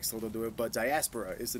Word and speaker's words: Diaspora: Yeah, sorry, that's how you say it.